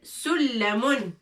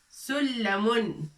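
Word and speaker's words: سُلَّمٌ: L'échelle, sullamun. Sullamun. Avec shedda. On appuie sur l'em.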